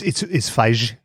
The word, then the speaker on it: Feig: Is that how you pronounce his name? It's Feig. Feig? Yes. Paul Feig? Yes.